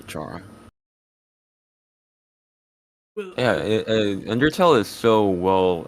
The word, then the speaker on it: Chara: loved car and flowey you say car or Char I said Cara yeah I think that's just how I first heard it pronounced so I think that's just why I do it but I encouraged Char so I say Chara yeah undertale is so